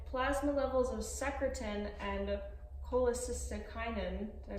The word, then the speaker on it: cholecystokinin: yep exactly if plasma levels of secretin and cholecystokinin I pronounce that right yes cholecystokinin increased the volume of violin that goblet ba